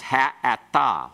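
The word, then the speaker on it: האתה: Ata, it becomes ha'ata. Why? Because we have a guttural that is the very next letter. It's the guttural, aleph, that makes this then go to a pathic.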